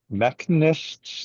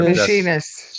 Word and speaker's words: machinists: a couple neighbors who were how do you pronounce it? Mechanists, mechanists. I don't remember what their machinists.